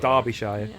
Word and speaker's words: Derbyshire: like derbyshire obviously it looks like derbyshire it's derbyshire that's another one so box sharing derby yep